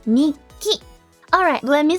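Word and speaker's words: 日記: But it's not nichiki, it's nikki.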